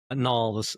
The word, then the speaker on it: Knaul: Knaul, the K is silent.